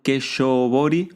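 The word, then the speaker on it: 化粧彫り: Ahora bien, te decía que el fondo se llama Gakubori, los acompañamientos se llaman Keshobori o Keshoubori se escribe. La U siempre es como una alargue, o sea, si tenés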